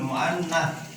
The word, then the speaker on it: muannats: Nih, yang mudzakkar ini yang muannatsun, muannats. Nah, dibacanya muannats.